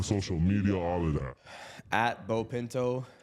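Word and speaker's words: Beau Pinto: Bo Pinto, B E AU, spelled like beautiful, pronounced like bow tie and pinto like the car, the bean, and the horse.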